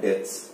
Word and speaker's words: debts: Okay, so actually the B is silent, so it's bad debts.